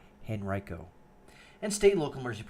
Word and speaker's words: Henrico: fire by the way that is the correct pronunciation of that County Henrico and state and local